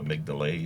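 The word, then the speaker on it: amygdala: are operating from the amydala or the amigdala is the way you pronounce it right yep and and it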